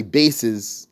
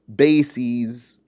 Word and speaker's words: bases: That word that I have here, you can pronounce it in two ways. You can say bases, you can say bases. So we're saying here bases with a long E.